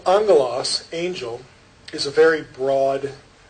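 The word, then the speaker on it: ἄγγελος: transliterated this way and when two gammas come together in greek you get the ng thing pronunciation so angolas angel is a very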